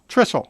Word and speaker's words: Trissell: Jeffrey, you're going to have to help me pronounce that. Is it Trissell? Trissell, okay, is special counsel for the Thomas More Society.